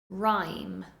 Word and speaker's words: rhyme: Listen carefully to the pronunciation. Rhyme, rhyme.